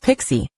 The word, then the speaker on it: PKCE: PKCE, pronounced Pixie, hardens the authorization code flow against interception attacks.